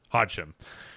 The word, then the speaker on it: Hodgson: How do you say the family's name? Hodgson.